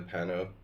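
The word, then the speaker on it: Panno: Did I say Panov? Pano. You know, like Oscar Pano, the Argentine Grandmaster?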